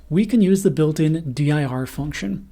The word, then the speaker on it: dir: can use the built-in diir function, which I often pronounce dur. Every object in Python can be passed to the built-in dur function to see the attributes that object has.